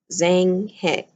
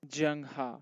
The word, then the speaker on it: Zheng He: trade are the voyages of Zhang He. Am I pronouncing that right? Zheng He. All right, the voyages of Zheng He.